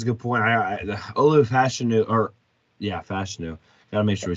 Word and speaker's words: Fashanu: Olu Fashanu, Fashanu.